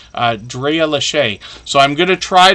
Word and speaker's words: Lachey: name, it looks like Lasha. I've been saying it wrong the whole time, but the last A is actually like a long hard A, right? If that makes sense. Drea Lachey.